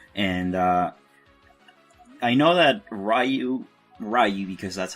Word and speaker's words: Ryu: comes to mind and uh I know that rayu rayu because that's how you pronounce his name I always called him Ryu that's that's wrong that's wrong but that's fine